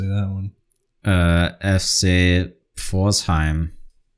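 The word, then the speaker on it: Pforzheim: gonna let you say that one uh FC forzheim forzheim yeah you spell that P fo r z h e i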